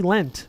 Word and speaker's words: leant: And it wouldn't be lent, right? He leant over?